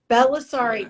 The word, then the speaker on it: Bellisari: Bellisari. It's a long one. Is that right? I was it's scared long. to say it, but Bellisari, just how it looks, but it's a long name.